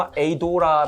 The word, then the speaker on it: ADAURA: 제 가 아까 물어봤을 때 , 영어 로 는 " 아다우라 " 라고 발음 해야 한다 고 하더군 요 .